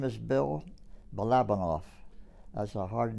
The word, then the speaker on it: Balabanow: tell us your name my name is bill balabanov that's a hard name it's be like boy a l a b a n o w pronounced bolovanov all righty and how many how many conventions